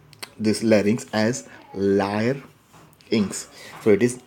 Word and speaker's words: larynx: of the larynx so many times we are pronouncing this as larynx but actually we should pronounce this larynx as lyre ynx where it is live inks again and this larynx is also known as